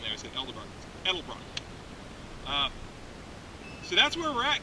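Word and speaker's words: Edelbrock: miles on them I figured they were good l-dub Rock aluminum heads see I said it wrong there's developer edelbruck so that's where we're at guys not good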